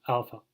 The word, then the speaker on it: alpha: particularly in American English, you really never A is never A. It's ah. So the A in father or drama, alpha ah.